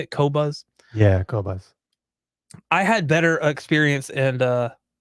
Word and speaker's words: Qobuz: Yeah, Qobuz.